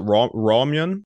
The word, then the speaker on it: RAWMYUN: You got to help me with the pronunciation here. It's is it RAWMYUN? Yeah, you got it. Thanks for having me. So I am the founder and CEO of RAWMYUN.